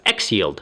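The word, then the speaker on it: XYLD: 500 ETF TI a symbol X yld and pronounce as X yield and it follows the S&P 500 as the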